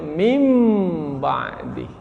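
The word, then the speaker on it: مِنْ بَعْدِ: Tapi karena nun sukun bertemu dengan ba, akhirnya kita balikkan nun menjadi mim. Maka kita membacanya mim ba'di. Itu namanya iqlab.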